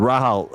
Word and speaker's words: Rahal: The Andredy hairpin and the the real how do you pronounce it? the Rahal um straight. Yeah, Rayal straight. Raal straight.